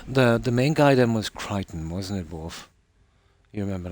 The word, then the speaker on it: Crichton: I'm saying it right. Yeah, Crichton. But it's spelled that way, is it? Yeah.